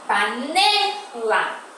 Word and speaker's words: panela: Panela. Panela. Ne é a sílaba que eu pronunciei com mais intensidade, mais força, tá?